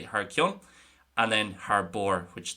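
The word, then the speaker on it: thar cionn: In Connacht, it's going to be more so pronounced Har Keen, and it tends to be used more in Connacht.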